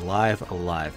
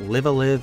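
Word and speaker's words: Live A Live: checked I triple checked you can check the Japanese pronunciation this is how you say it it is live alive not live aive live Alive live live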